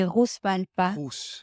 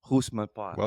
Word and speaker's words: Rousse-Malpat: with us today, Rousse-Malpat. Did I pronounce that correct? Yeah, the French way you could say Rousse-Malpat. Rousse-Malpat. And my like in Rousseau.